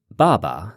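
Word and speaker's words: 爸爸: the difference of course Baba said with a fourth tone then no tone is also the word for father but even if you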